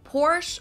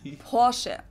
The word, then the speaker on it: Porsche: located in stutgart Germany I've heard Americans pronounce it Porsche or Porsche in German we say por so there's like this short a sound in the end por it was founded by